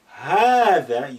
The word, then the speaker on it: هذا: The same thing as هذا, you say هذا with lengthening, but you do not write it. You write it, you omit this alif. So هذا, don't say هذا. لا, you need to say that lengthening.